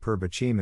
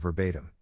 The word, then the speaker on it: verbatim: I try not to get worked up about mispronunciations but I had a manager who said perbachim instead of verbatim and I winced every time she said it